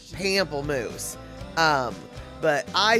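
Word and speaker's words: pamplemousse: comfortably um proper pronunciation as best a non-french speaker can say would be pomplamoose now I'm sure a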